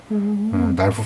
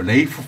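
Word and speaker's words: Ralph: 틸다 스윈턴, 랄프 파인즈. 이게 우리가 랄프 파인즈라고 읽는데 이 사람은 그쪽 바로 레이프 파인즈라고 읽어달라고 이제 요구를 한대요. 랄프가 아니고 난 레이프다.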